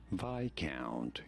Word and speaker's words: Viscount: Viscount. You do want to stress on the first syllable. Viscount. On the I syllable.